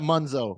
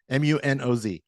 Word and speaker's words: Munoz: I like that Munzo. I like Munzo. All right. So Munzo. Munoz.